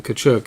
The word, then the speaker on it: Tkachuk: remember that pronounced pays the silent T in tkachuk is easy Byron you follow Hutton